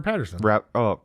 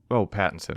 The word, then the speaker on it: Pattinson: Robert Patterson. Pattinson.